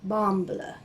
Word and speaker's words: Bamble: region of norway and so he said be pronounced like bamballa so these are my bumble socks and they're